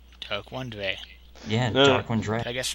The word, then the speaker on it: Daronedrei: It is pronounced Dark One Dry. Dry. Whoa. Shout out to Haxatronic for getting that wrong. Yeah, I thought it was Dre.